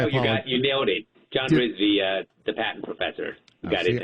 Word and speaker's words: Rizvi: John Rizvi, the patent professor. got it down. I'm paranoid about mispronouncing people's names, so I'm glad I did yours right.